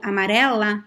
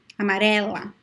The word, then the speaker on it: amarela: And the word amarelo, amarela, both are open. Amarelo, amarela, amarelo, amarela, okay?